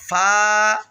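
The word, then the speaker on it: ف: এটার নাম হল ফা ফা ফা ফা ভাই ফা উচ্চারণের সময় সামনে যে দাঁতগুলো রয়েছে অর্থাৎ উপরের দাঁতগুলো এগুলো নিচের ঠোঁটের যে পেটটা রয়েছে পেটের সঙ্গে লাগাইয়া উচ্চারণ করবেন। ঠোটে ঠোটে আবার লাগাবেন না।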